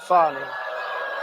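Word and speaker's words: Fani: f do you think fonnie huh F A ni I that's pronounced Fanny but you're not allowed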